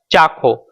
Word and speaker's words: ચાખો: just do one thing, find a say some joint, like let's say for example here cha and kho, so combining this the word will become chakho.